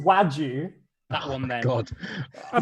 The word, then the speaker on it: wagyu: It's That pronounced Wagyu.